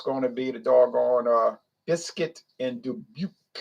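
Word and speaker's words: Bisquit Dubouché: And it's going to be the doggone Biscuit and Dubuque. Biscuit and Debouche. That's how you pronounce it.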